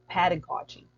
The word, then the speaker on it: pedagogy: It's pedagogy, pedagogy. The usual stress of this word is pedagogy. When I was unfamiliar with this word, I often just simply say pedagogy.